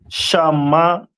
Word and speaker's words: Simeon: And Simeon is pronounced in the Hebrew as Shamaiwan.